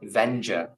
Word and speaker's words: Vendure: You pronounce it Vendure.